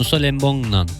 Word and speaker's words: Nusa Lembongan: Doğru mu telaffuz ediyorsunuz? Doğru. Nusa Lembongan.